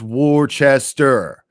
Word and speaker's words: Worcester: Worcester pronounced Worcester, though not many wusses here.